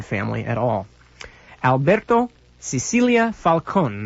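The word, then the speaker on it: Falcón: Alberto Cecilia Falcone, the last name is spelled s i c i l i a dash f a l c o n, like falcon.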